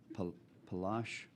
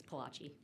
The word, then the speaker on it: Palashi: Chair calls Palash. I don't feel real confident in the pronunciation of that. You were close. You want to advise me? Good morning. It's Palachi.